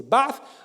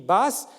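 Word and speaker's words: بعث: l'idéologie du parti baffe en arabe il faut prononcer barre je sais qu'en français on l'écrit basse mais c'est une pas parce que certains orientaux d'ailleurs prononce le s à la place du th mais c'est pas bon c'est pas une question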